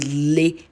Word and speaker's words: Lagos: had you know dragged people why would they pronounce Lagos like that that it is called Legos go hm so now we we somebody said